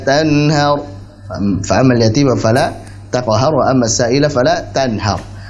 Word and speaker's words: السائل: Sama juga misalkan فأما اليتيم وأما السائل فلا تنهر فأما اليتيم فلا تقهر وأما السائل فلا تنهر. Ayat 10 yang harusnya وأما السائل dibaca 4 harakat malah dibacanya 1 harakat begitu ya.